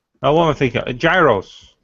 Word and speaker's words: Gyros: Gyros. Gyros. Gyros. Gyros. Gyros. I know those. Yeah, pronounce it like the annoying kid in Big Hero 6.